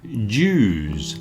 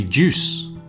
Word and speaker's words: Jews: The next one is Jews. This is more of a pronunciation problem. If you want the plural of Jew, you put a Z on the end.